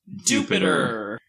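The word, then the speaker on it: Dewpider: going to be doing i just caught dewpide and seth has repeatedly informed me against my will it is pronounced jupiter i don't care yeah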